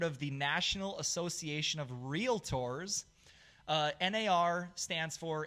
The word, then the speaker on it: Realtor: Well, then the way to actually pronounce it is realtor, okay? Like realtor, like Tory, okay?